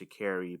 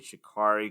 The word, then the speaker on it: Sha'Carri: apologize i'm pretty sure her name is pronounced shakiri but i want to say shikari because i see that ar and i want to make that r sound but i'm almost positive i watched her in the interview and she said she carried so don't castrate me guys if i mispronounce our name um but i'm pretty sure it should carry anyway uh what i'm going